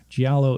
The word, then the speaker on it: giallo: up, but I didn't look at how to pronounce it. They referred to it as a Giallo. It's Giallo, yeah. It's Giallo, yep.